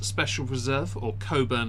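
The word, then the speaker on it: Cockburn's: go I've gone with cockburns Special Reserve or Co burn it's meant to be called but it's spelled bur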